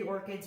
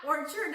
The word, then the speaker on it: Angry Orchard: Angry Orchids Rosé. Angry Orchard. Orchids? How did I say orchid? Oh, orchids are flowers. Yeah. Orchard is, you know. Orchid. How do it?